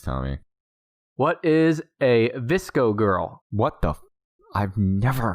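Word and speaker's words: VSCO: google things number two the term bsco pronounced visco girl refers to a popular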